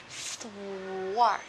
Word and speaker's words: thwart: Đưa lưỡi là giữa hai hàm răng, dẹt mỏng, đầy khuôn miệng. Bước thứ hai, để hơi. Bước thứ ba, đập âm ngay trên lưỡi của mình luôn.